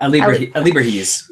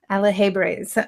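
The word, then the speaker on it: alebrijes: Alibrahis. No, you're saying it wrong. No, you're saying it wrong, because that's not Alahebres.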